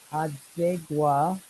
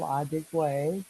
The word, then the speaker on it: Adigwe: So, ladies and gentlemen, we've been talking with Paul Adigwa. I am trying to say his name correctly. He's a Adigwe, very, Adigwe.